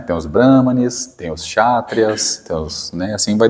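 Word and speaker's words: Kshatriya: catras né dos chatrias começa com k mas pronuncia chatrias chatrias tá os chatrias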